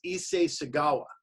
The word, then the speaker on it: Issei Sagawa: of it I want to make sure I pronounce the guy's name right it's Issei Sagawa you ever heard it the Japanese cannibal okay